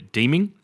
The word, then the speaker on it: Deeming: Obviously, he lost leadership due to a bit of a tiff with Moira Deeming, or Deming, depending on how you want to pronounce it.